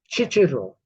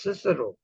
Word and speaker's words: Cicero: interventions into Italian languages I heard so many people say chichiro a philosopher what is teacher oh it's Cicero the Romans never used c as char they used it as C it's not chicharo it's not teaser it's not all those but when it becomes